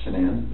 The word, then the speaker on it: Shanann: And I don't want to pronounce her name wrong, Shanann? Shanann.